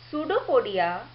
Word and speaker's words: pseudopodia: o b i a here P is silent kyudo podia pseudopodia is a finger like